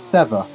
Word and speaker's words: Seva: Blade, I believe it's Seva. Yeah, no, that's what I said. Siva's boxed. I said Eric's going to get the lead. I know. You said Siva, though. Oh, Seva. Sorry.